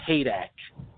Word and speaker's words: Heydecke: They mispronounce it. It's Haydecke. A lot of people say Haydecke and all that stuff, so Heydecke.